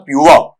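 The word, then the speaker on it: pure: वहां पर प्योर, तो प्योर शब्द भी वहां पर ये फोनेटिकली गलत है, प्योर नहीं होता है, पीवर नहीं होता। पीवर तो मैंने मजाक के अंदाज में आपको बताया था आपका। यहां पर शुद्ध उच्चारण होता है प्योर। अलग अलग लेंगे तो पै साउंड है, पै के साथ में यह साउंड है, यह के साथ में डिप्थोंग या ग्लाइड मिला हुआ है और वो बेटा है आपका ऊ है।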